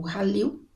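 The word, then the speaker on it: Khalil: um outro garoto o ril né Eh Cil né k h a né mas se pronuncia ril eh que estava na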